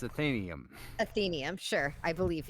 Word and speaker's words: Athenaeum: is batman we will also know how to pronounce the title of our own show correctly ethanium it's athanium athenian i'm sure i believe you i have